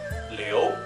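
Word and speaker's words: Liu: really good first impression the next one is Leo the tricky part is with IU so IU is not pronounced as e as in English is actually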